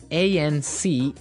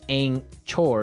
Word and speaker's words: anchor: anchor now it's spelled a-n-c-h-o-r right but you don't pronounce the c-h as you normally would right another one of